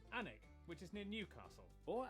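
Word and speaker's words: Alnwick: stop in kwonmore kwama before finishing up in almwick anak which is near newcastle or as the people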